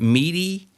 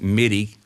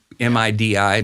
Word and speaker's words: MIDI: correct yeah am i some people pronounce that meaty i've always pronounced it midi m-i-d-i midi some people say